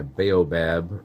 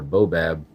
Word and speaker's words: baobab: to be working on my baobab or bob bonsai i've heard it pronounced both ways um i have one